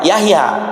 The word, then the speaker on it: Jahja: Ee kalau tulisan Y ya, kalau J itu contohnya Yahya tulisannya itu jah. J A H J A Jahja ya. Bacanya apa? Yahya kan begitu.